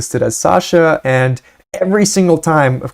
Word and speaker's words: Sasha: And so Sasha rhymes with that, and so Obama's daughter